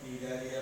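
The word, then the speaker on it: Cnidaria: ওকে, তাহলে আমরা এখন নিডারিয়া পর্বতে ঢুকি। আসি, নিডারিয়া নামটায় সি দিয়ে শুরু হয়, অনেকে প্রোনাউন্সিয়েশনে বা বানানে একটু ভুল করতে পারো, নিডারিয়া নামটা সি দিয়ে শুরু হয়।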